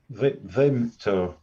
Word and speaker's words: Vimto: How do you pronounce that? Vimto? Vimto.